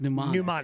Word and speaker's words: mnemonic: Correction. It is MN. Thank you. That's what. But it is pronounced mnemonic. Mnemonic.